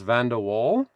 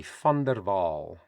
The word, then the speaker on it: VanderWaal: in Dutch and Africans a V in spelling the sound of it is F like an F in English and a W in Africans and Dutch is pronounced VV like a V in English.